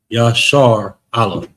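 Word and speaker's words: Yasharahla: So it's going to be sh instead of shar Allah. That's that would be incorrect. Yashar Allah is how you pronounce that.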